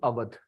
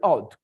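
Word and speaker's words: Awadh: he came to Earth this is avat the British cannot pronounce other so they used to call it auth so this is avat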